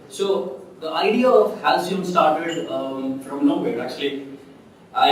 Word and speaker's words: Halcyon: I named it Halcyon. That's how you pronounce it, and the more details are actually on the website.